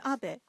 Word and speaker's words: Abe: house my name is Abbot but in the United favor some people mistakenly pronounce my name is ape but that is not